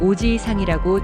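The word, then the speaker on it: おじいさん: 오지이산, 할아버지. 이 단어는 오지이상이라고 지 뒤에 이를 길게 늘려서 발음합니다. 이때 지이는 두 박자처럼 발음되어야 합니다.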